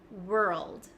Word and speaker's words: world: a lot of you I can feel my tongue sliding from the back to the front so from R to L Whirl Whirl Whirl Whirl Whirl Whirl Whirl and then just adding a d at the end world world world world so I'm going